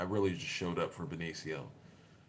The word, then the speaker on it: Benicio: But I really just came for, I really just showed up for Benicio. Benicio, not Benicio.